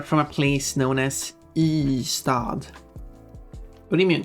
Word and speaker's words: Ystad: Ystad? No. Ystad. One letter followed by the words for city.